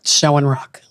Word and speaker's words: Shoenrock: Shoenrock. Schoenrock.